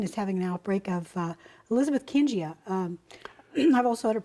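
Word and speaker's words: Elizabethkingia: But generally, when you pronounce these names, an I following a G, it makes it a J sound.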